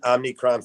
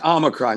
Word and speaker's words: omicron: a crime and police omicron yes omicron not omnichrome but it's okay hey